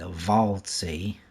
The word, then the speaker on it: Waldsee: This is Waldsee, or it could be Waldsee if the W's pronounced like a V.